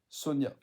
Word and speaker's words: Sonja: C'est écrit Sonja, hein, mais dans les pays scandinaves, le J se prononce comme un Ya, donc c'est Sonia.